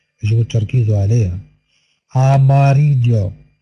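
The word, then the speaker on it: amarillo: أماريجو، ليس أماريو ولا ليس أماريجو، أماريجو أماريجو.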